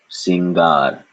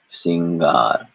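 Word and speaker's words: सिंगार: lessons ago and so there is no nasal vowel in this at all it is just a n conjunct with G and so this is pronounced you say it first singar singar very good sing singar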